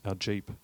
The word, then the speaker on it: GEAP: As part of the development of our Gender Equality Action Plan or pronounced 'Jeep'. We launched our first GEAP 2 weeks ago.